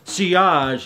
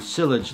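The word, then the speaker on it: sillage: scent trail a scent trail is also called C OSH it's a French word spelled si double la GE and sometimes people pronounce it cyllage like I used to two years ago this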